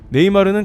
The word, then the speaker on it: 네이마르: 서울 코리아라는 메시지를 공유했으며 네이마르는 감사합니다 대한민국 트윗과 함께 네이마르는 글도 함께 적어 올렸습니다 브라질과 유럽 등에서는 네이마 정도만 발음하는데 한국에서는 르를 꼭 발음해 주는게 특이했다 봅니다 브라질 안하면서도 경기를 중계하면서 네이마 네이마르를 내기도 했습니다 한편 그는